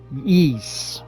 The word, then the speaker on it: Ys: are you supposed to pronounce that it is pronounced ye this chronologically is the first game in the